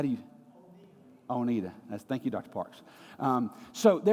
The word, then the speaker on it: Oneida: So we've taken a deep dive with Oneida, depending on, where you put the syllable on the word. So I still don't know how to pronounce that yet. How is it, Dr. Parks? How do you? Oneida.